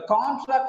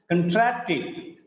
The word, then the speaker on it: contract: Just because of the stress is on track, the first syllable becomes weak in the second example. In the if it is verb, becomes contract because the stress is on second syllable.